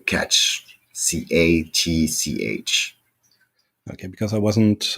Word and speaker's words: catch: the name of the promotion how do you pronounce it Ricks e catch like catch c-a-t-c-h okay because I wasn't uh thought before